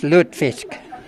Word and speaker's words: lutefisk: this, and I also haven't had, is it lutefisk? Is that how you say it? And I am so glad to learn that they don't have any because I really don't want to try it. It's lutefisk.